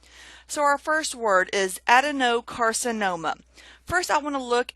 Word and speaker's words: adenocarcinoma: So I've stressed that no a little bit more than the other words.